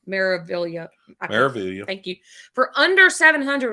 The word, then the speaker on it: Meraviglia: Meraviglia.